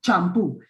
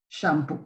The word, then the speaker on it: shampoo: Champú. So that's not the correct word. That's not the correct pronunciation. But then again, in Spanish, we say champú instead of shampoo, right?